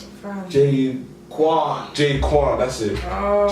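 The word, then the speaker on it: J-Kwon: I don't know how to pronounce his name, but I think it's J Known. Fam. J Quan, that's it.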